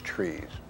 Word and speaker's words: TRIZ: of inventive problem solving t r i z a Russian acronym pronounced as trees within that theory there